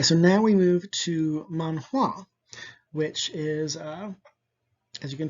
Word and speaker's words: manhua: the same word just it's pronounced a little differently in chinese than it is in japanese it's manhua and this is what